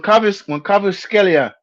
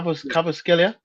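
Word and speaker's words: Kvaratskhelia: Yo, when he scored a goal, when Cavuskelia, did I say his name right? Yeah. Cavuskelia.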